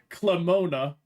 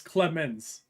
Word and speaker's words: Clemens: In my opinion, it's Klez, Clemona, Clemones. Just a board man. You didn't spell it right at any point. There's no O. It's Clemens.